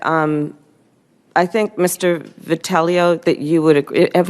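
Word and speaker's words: Vitiello: Vitello, that you would agree. Have I pronounced your name correctly? Vitello.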